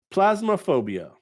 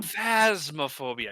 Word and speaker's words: Phasmophobia: my best college try plasmophobia wow plasmaphobia okay look at the second letter the hero plasma phasmophobia yeah there's a ph it's a phasmaphobia i